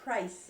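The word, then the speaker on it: Preis: Yeah, Christine married Ed, P-R-E-I-S. Price, it's pronounced, but it's Yeah.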